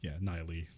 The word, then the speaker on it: Nighy: Yeah, it's like Bill Nye. It's Nighy.